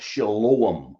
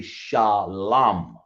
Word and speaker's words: shalom: in the Bible uh that's Shalom or shalom it's supposed to be shalam but because the Yiddish